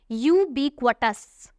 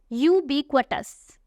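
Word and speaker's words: ubiquitous: अगला word pronounce करने में ज्यादा डिफिकल्ट है, तो ध्यान से सुनना। ये वर्ड है यूबिक्वटस। यूबिक्वटस जिसका मतलब है एवरीवेयर यानी कोई ऐसी चीज जो हर जगह होती है।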